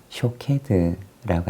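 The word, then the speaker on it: שֹׁקֵד: 그리고 지켜보다라고 하는 말은 히브리어로 쇼케드라고 하는 단어를 사용합니다. 즉 살구나무라고 하는 말과 이 지켜 혹은 지켜보다라고 하는 이 두 말이 사실은 발음이 아주 유사한 단어입니다.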